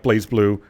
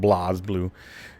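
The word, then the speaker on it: BlazBlue: It was developed by the people that did Blaze Blue or Blaz Blue, if you will. Because apparently that's the correct way to say it, Blaz Blue.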